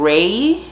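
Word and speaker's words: Rei: How do you pronounce her name? Ray.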